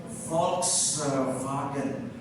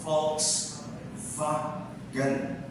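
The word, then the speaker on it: Volkswagen: as Jak J ang W para sa mga Germans pronounced as V.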